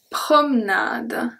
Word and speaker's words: promenade: Une promenade. Promenade. Une promenade. A walk. Okay, so did you hear that I did not pronounce the E at all?